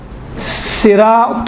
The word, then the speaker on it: صراط: موٹ ادا ہوتا ہے۔ یہ طین صراط المستقیم، تل نہیں ہوگا، تل مستقیم، تھوڑا موٹا ادا کریں۔ اسی طرح سے سین